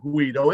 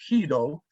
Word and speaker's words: Guido: It's not Guido, it's Guido. Guido Landheer is the Deputy Director General for the Ministry of Agriculture, Nature and Food Quality.